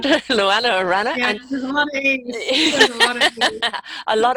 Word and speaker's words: Luannah Arana: Am I pronouncing it right? Luannah Arana.